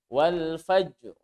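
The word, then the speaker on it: والفجر: fight Bagaimana cara membacanya roknya dibaca seolah-olah ada bunyi fat hadisin hanya sedikit saja bunyi patahnya walfajri Jero awal Pajero hanya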